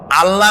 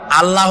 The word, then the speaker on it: আল্লাহ: বলেন তো, আল্লাহ নয়, কিন্তু আল্লাহ হচ্ছে অশুদ্ধ, শুদ্ধ হচ্ছে আল্লাহ। বলার সময় মুখটা গোল হয়ে যাবে।